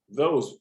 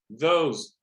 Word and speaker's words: those: Som de Z também. Those. O E não é pronunciado no final. Those. Lembra um pouco a palavra 12, né? Só que sem esse I no final.